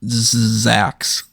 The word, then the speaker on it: Zzzax: hanging around ringside of Zax. And I say it like that way because it's ZZZAX.